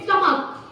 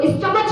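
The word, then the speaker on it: stomach: लेकिन कहीं कहीं पर इसी सी एच का प्रोनाउंसिएशन चेंज हो जाता है। जैसे तो क्या प्रोनाउंसिएशन हो जाता है, क, जैसे स्टमक, जबकि स्पेलिंग क्या है, नीचे जरा देखो, एस टी ओ एम ए सी एच, है ना। तो स्टमच नहीं है, क्या है ये, स्टमक, है ना।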